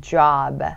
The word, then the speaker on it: job: 족도 아니고 잡도 아니고 job.